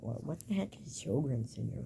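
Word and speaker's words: Sjögren's syndrome: It's from Sjogren's syndrome.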